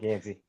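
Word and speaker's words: Gansey: Yeah, Mike Gansy.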